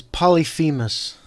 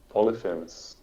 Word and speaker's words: Polyphemus: How do you pronounce this guy? I think the common pronunciation is Polyphemus. Polyphemus.